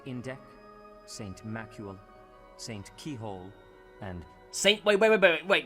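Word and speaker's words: Cichol: keyhole and st. wait wait wait wait that is pronounce st. keyhole st. keyhole do they have the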